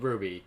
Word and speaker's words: RWBY: team, which is called RWBY, but spelled with a W in place of the U.